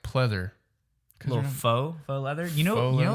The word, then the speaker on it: faux: When I used to read it, I used to thought it was fox leather, but Fox you leather? you don't pronounce the X.